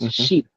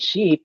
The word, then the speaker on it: sheep: pronunciation right the clarity because say you want to pronounce the word ship versus sheep, right? So ship and sheep. It almost sounds the same to English learners, but you want to